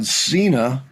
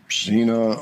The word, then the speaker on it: Sina: So, Zena, uh, Zena, I'm trying to get the name right. There's a pronunciation somewhere between S and Z, I'm told.